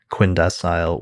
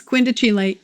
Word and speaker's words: quindecile: Sagittarius is a beautiful word, but it's quindecile and quintile. Right. He preferred to put like an Italian pronunciation on the term or something like that.